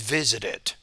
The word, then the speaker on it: visited: So because it ends in a T, you have to create a new syllable at the end of the word. So the present is visit, the past is visited.